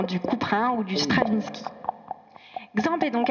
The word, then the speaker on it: Xamp: Alors nous, on dit Xamp. Xamp. En fait, toutes les prononciations sont valables parce que en Catalogne, on dirait champ. Parce que le X se prononce ch.